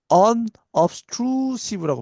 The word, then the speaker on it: unobtrusive: unobtrusive라고 발음하면 됩니다.